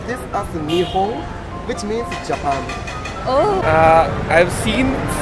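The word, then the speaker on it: 日本: We pronounce this as Nihon, which means Japan.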